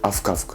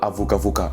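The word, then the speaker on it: avokavoka: Alors, les malgaches, les vrais malgaches, ils disent avuka, avuka. Genre, c'est vraiment rapide. Ils disent avuka, avuka. Mais si je le dis au ralenti, ça donne avuka, vuka. Enfin, coupé, quand je coupe. Avuka, avuka. On dit avuka, avuka. Voilà. Et pas avoka, voka, avuka, avuka.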